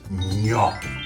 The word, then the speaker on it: gnocchi: Uh, just like you say lasagna or my last name.